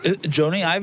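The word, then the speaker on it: Jony Ive: Of all the words that he said, I wouldn't have pronounced any of them the same, including Johnny Ive. Joni Ive, isn't that how you say his name?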